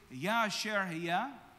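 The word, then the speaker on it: אהיה אשר אהיה: "I am that I am" is pronounced in Hebrew, Yasher Haya.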